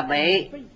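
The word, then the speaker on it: 被: Thân bị ư pháp phục, chữ này đọc là bị, cùng chữ bị bồ thủ một bên là đồng âm, đồng nghĩa. Thời xưa hai chữ này dùng chung, chỗ này đọc giọng cao.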